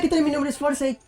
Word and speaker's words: Forsythe: Mi nombre es Forsyth, pero desgraciadamente nadie sabe pronunciar mi nombre. Tú me puedes decir Forsyth y bienvenido a la Ratonera Geek.